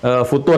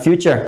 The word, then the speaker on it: futur: Jadi kalau ini sedang melemah, apa yang disebut dengan futur itu ya, yang sudah pernah kita bahas, bukan future, tapi futur. Nah, jadi itu nggak usah di Inggris-Inggrisin, futur. Jadi nggak usah bacanya future.